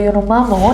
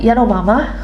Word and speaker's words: Yanomami: Oke guys, dan yang terakhir ada tradisi suku Yanomami. Suku Yanomami atau Yanomamo dibacanya Yanomama.